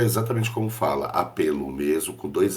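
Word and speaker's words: Appelo: chamado your Gena apelo é jurgen que se escreve Julian com dois Ls é j u r g e n e apelo é exatamente como fala apelo mesmo com dois l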